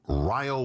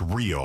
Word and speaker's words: Rio: And it's not pronounced Rio, like Rio de Yeah, Janeiro. you would think so. It's Ryo. Ryo.